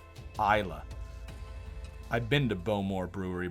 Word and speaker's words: Islay: barrels that sublimates into a rich fragrance it's pronounced isla i've been to beaumore brewery by the way